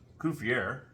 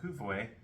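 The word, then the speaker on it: Coup-fourré: Each Kufuwe, that's how you say it, Kufuwe, each one that you used, you get 300 miles.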